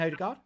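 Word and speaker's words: Ødegaard: So obviously Arsenal brought in Martin Odegaard. Martin Odegaard. Odegaard, sorry. Odegaard. That's how it's pronounced, apparently.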